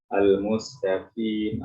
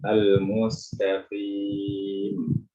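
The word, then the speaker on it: المستقيم: Ini penting diperhatikan karena beberapa pembaca Al-Quran keliru dalam mengucapkan qaf yang kasrah. Al-mustaqim, itu jadi kafir karena terlalu tipis atau terlalu tebal. Al-mustaqim itu juga tidak terbuat. Jadi bacanya bagaimana? Al-mustaqim, al-mustaqim. Berikan ketebalan yang tidak terlalu tebal.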